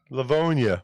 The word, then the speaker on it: Livonia: you ever come to Livonia, Michigan. How do you pronounce that? Livonia. Livonia. I think it's Livonia. northwest Man. of Detroit, I believe. It sounds like people love pneumonia there.